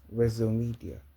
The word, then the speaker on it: Wezzomedia: CEO res media media a lot people saying it wrong but it's still sounds nice but the real pronunciation is res media just just by the